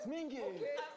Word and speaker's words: Mingi: My name is Mingi.